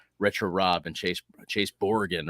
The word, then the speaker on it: Brogan: on how uh retro Rob and Chase Chase borgan right that's that's the pronunciation of my last name you're you're boring